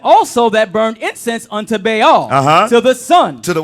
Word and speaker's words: Baal: That's how you pronounce it. Baal.